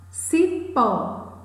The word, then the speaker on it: cipó: Cipó, a sílaba mais forte, a sílaba tônica é pó.